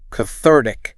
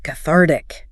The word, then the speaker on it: cathartic: Cathartic. Cathartic stress onar. This one leans formal, though the speaker said she likes using it. Means releasing strong emotions, feeling better afterward. Like crying can be cathartic.